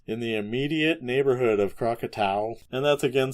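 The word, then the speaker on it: Krakatau: as 57 hours in the immediate neighborhood of Crocatau. And that's again spelled K R A K A T AU. I've heard people pronounce this crackatoa, but toa isn't t au.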